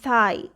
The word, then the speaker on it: thigh: The first trigraph is IGH, in which GH is silent and only I will say its name. I, hi, GH is silent. I, thigh.